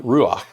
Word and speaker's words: ruach: has a hebrew word attached to it that's pronounced ruach and ruach means breath or wind last week